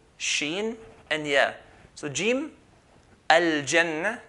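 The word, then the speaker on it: الجنة: So jim, al-jannah, like the J in English.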